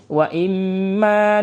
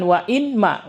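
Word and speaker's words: وإما: Wa imma nuriyannak wa imma. Jadi bukan wa inma, walaupun dipisahkan tapi cara bacanya tetap sama.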